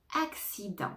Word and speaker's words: accident: c'est le mot accident accident attention ne prononce pas le T à la fin accident accident accident accident